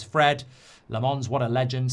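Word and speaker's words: Lammens: He's Flemish, so it's Lamonz, not Lemenz.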